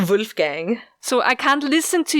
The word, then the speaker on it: Wolfgang: Wolfgang bold fireball fee no its whoa not woo I'm pronouncing it wrong